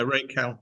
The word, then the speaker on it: Racal: Is that how you pronounce it? Yeah, Racal.